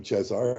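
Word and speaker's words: Cezar: chesar Brad Caesar Brad they call him chesar is how you say in Romanian he he gets to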